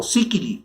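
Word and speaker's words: Seikilos: Refirámonos pues al final de esta clase al epitafio de Síquilos, o Síquili sería en un griego un poco mejor pronunciado.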